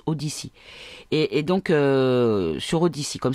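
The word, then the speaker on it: Odysee: Donc c'est Odyssée en français, en francisé, pardon. mais sinon ça se prononce Odyssey.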